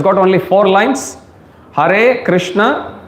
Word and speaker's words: Krishna: has got two syllables likewise Krishna means Krishna that's two syllable okay so when you chant when you say Krishna you make sure you pronounce it properly and you hear it